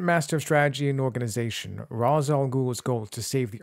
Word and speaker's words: Ra's al Ghul: Ra's al Ghul, or Ra's al Ghul, as it's apparently pronounced. Little is known of the early years of the nearly immortal Ra's al Ghul, whose name means the